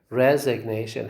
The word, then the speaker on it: resignation: see say resignation okay resignation how is it it's like this that this the first syllable receives a secondary stress and the third syllable receives primary stress and this is these